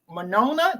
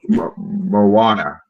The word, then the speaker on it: Moana: that just came out about the South Pacific Monona did I say it right Mona too Moana Moana Moana Moana way finding is a term